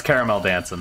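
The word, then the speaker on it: Caramelldansen: about yeah yeah yeah that's caramel dancing that's that's how it's pronounced and it is one word i i just imagine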